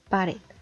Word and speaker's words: pared: La última palabra es pared, la cual contiene 2 sílabas, y podemos observar que la última sílaba es la que tiene mayor entonación, pared.